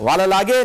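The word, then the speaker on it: Wellalage: डेनिथ वालालागे ने जो है वालालेज, सर सोहेब साहब इसको प्रोनाउंस जरा कर दीजिए clear. Proper name can be pronounce any वे, वेलालागे वैसे कहते हैं, वेलालागे, लेकिन किसी तरीके से भी प्रोनाउंस हो।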